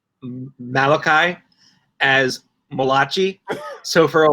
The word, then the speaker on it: Malachi: Jewish man's name but it's also step it's pronounced now Malachi and it's spelled like that so now Malati is no more it is another knife thrown